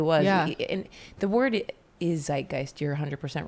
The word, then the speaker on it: Zeitgeist: that starts with z yeah it's true and it's spelled z i t GE i s t Zeitgeist is that right mhm um but you're right